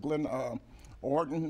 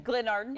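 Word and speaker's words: Glenarden: I'm expecting people from Bishop Owens Church and Glendale First Baptist of Glen Orton. And is that, did I pronounce it right? Glen Orton. Glen Arden? Arden, you're Arden, doing okay, good.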